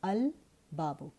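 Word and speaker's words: الباب: In case of a moon letter, the lam of the lam at-ta'rif, al, is pronounced. So you say al-babu.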